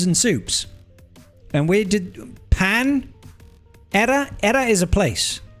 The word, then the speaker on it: Panera: But they're like, "Yeah, we don't pronounce it like the Spanish pronounce it cuz they're weird."